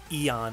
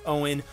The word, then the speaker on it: Eoin: really having trouble pronouncing the way that Owen pronounced his name like even then call with jolt I've been calling him Aeon I think for the longest time because I